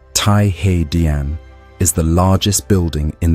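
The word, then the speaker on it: 太和: The Hall of Supreme Harmony, pronounced Thaihe is the largest building in the Forbidden City.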